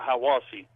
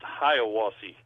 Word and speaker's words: Hiawassee: Georgia is how I wash we call it Hiwassee but it feels like it would be pronounced Hiawassee I was he yep but anyway we he